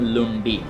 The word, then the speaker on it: lundi: तो उसी हिसाब से, उसी सिलसिले से फ्रेंच लैंग्वेज में इसको बोलते हैं लुंडी, LUNDI।